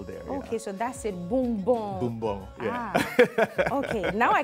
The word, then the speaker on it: Bumbong: So you're a proud son of, how is it pronounced? Bumbong. Bumbong. It's right close to Yendi, on the road from Yendi to Gushiego. Oh. It's right in the middle there. Okay, so that's it, Bumbong.